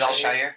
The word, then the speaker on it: Al-Shaair: He's Al-Shaair. Azeez Al-Shaair.